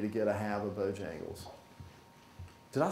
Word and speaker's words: Bojangles: I wanted need to get a have of Bojangles did I say that right that's the first